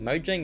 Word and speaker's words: Mojang: it that's the thing Mojang isn't the is Minecraft's developer mcraft Mojang bought Minecraft of Notch for couple million basically Notch is not even involved in it anymore um it's pronounced moyang which is cringe 2.5